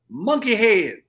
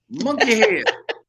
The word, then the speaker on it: Munkihaid: Okay, first of all, you need to pronounce it phonetically. Okay. All right? It's Munkihaid. Munkihaid.